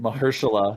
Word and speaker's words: Mahershala: I have no Mahershala. idea how to say his first name. Marshall. Yeah. Mahershala. It's weird. Mahershala.